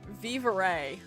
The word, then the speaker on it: vivere: For the record, somebody who speaks Italian, it's pronounced vivere.